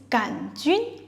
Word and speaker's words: 杆: and RW shaped bacteria is gun with no oo sound and a third tone even though they sound